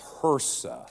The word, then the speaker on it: HRSA: we're big into acronyms it's hersa think of her son okay that's how I will pronounce it on occasion hersa our challenge has the